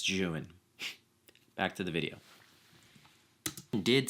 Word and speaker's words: Zhiyun: I didn't remember that in the video not Zune it's pronounced Jan so anytime I say that it's junan back to the video did send me the